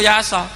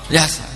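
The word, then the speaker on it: يس: Tidak ada tradisi untuk membaca Yasin sebagai "Yasa." Banyak orang membaca Yasin, dan bagaimana cara membacanya? Yasin.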